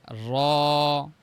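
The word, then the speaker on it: ر: নুন নুন নুন আচ্ছা এরপরে হচ্ছে 10 নাম্বার মাখরাজ জিহ্বার আগার পিঠ অর্থাৎ এই যে পিঠের মানে সামনের আগার মানে উপরের অংশ তার বরাবর উপরে তালুর সঙ্গে লাগবে র বলি র র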